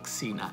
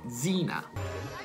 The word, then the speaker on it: Xena: Quindi xilofono diventa xylophone, xenofobia diventa xenofobia, e Xena, se avete capito, non è Xena, è Zina.